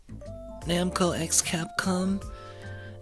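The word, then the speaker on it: Namco × Capcom: I think the the X in Namco Namco X Capcom is supposed to be pronounced cross.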